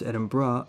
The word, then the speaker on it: Edinburgh: My favorite examples would be Sheffield, Edinburgh, pronounced Edinburgh, and my favorite character in the whole anime, Shokaku.